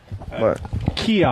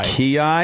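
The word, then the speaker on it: kiai: is it t Barber no no kyi kyi that's how you pronounce that is that like a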